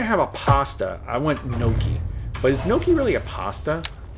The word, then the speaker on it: gnocchi: What is gnocchi? Gnocchi, pronounced gnocchi, are a type of pasta.